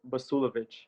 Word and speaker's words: Basuljevic: it to people is a silent j so basulovic so just don't say the j and it kind of